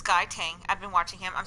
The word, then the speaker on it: Guy Tang: I want to pronounce his name correctly. It's Guy Tang.